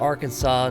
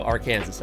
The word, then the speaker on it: Arkansas: They're like Kansas, but with an R. Oh, not just R. Arkansas? Arkansas? Yeah, okay. So Arkansas.